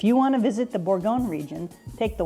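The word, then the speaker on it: bourguignon: come from right here beef borgon is how you say a burgundy style stew in French this is where Coco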